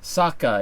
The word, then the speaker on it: Saka: Spirit girl yes and Saka it rhymes with uh AKA and waka waka as soon as he